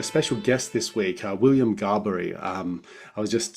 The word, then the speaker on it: Gaboury: we've got a special guest this week, William Gaboury. I was just saying, like, how do you pronounce it?